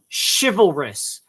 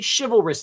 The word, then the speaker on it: chivalrous: Dude, it's pronounced chivalrous. Chivalrous. Chivalry, chivalrous, not chivalrous. You're saying the word silver, but replacing the S with a CH.